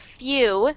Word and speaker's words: few: um so yeah and that's an important thing about few few definitely you have that W sound few few and if